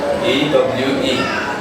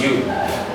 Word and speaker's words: ewe: Imagine somebody trying to pronounce this as E-W-E, the way it appears.